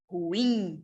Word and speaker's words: ruim: E vocês já sabem que é ruim, porque é um oxítona.